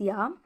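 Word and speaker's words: j'ai: Ya means, this is J-A-I, it is pronounced as ya.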